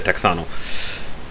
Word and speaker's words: Texano: Yeah, they actually spell it Texano, because that's how my Zoom Text app reader pronounces it. They don't say Tejano, they say Texano.